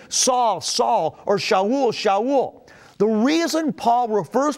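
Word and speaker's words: שאול: As a Roman citizen, Paul had both a Hebrew name that we call Saul, or it's pronounced in Hebrew, Shaul, and he had a Roman name, Paul.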